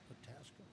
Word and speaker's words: Itasca: Itasca?